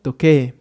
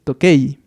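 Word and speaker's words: 時計: visto anteriormente y bueno, mencionamos que se tenía que leer como toque, en vez de decirlo como se escribe, que es tokei. Se escribe tokei, pero se va a pronunciar toque, haciendo esa vocal larga, en este caso nuevamente como e, ya que bueno, aquí tenemos juntas una e y una i, como es este caso.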